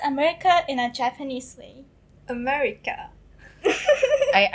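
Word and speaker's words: アメリカ: in a japanese way america i i think all the r just goes like l so america oh that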